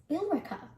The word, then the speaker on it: Billerica: watching gloucester this town rather than rhyming with america is actually pronounced as billerica this one it's not